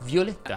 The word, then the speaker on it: Violetta: è aperta come alessia i diminutivi chiudono violetta cast di violetta ma anche fiammetta e brunetto se il tuo nome